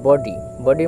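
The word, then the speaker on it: body: তারপরেরটি দেখো বডি দেওয়া আছে বি ওডি ওয়াই বডি বডি মানে মানে হলো শরীর। বডি মানে হলো শরীর। এই বডি বানানটিকে আমরা ভেঙে উচ্চারণ করি না বি ও ব।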